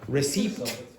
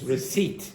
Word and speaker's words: receipt: So it's not receipt, it's receipt, receipt.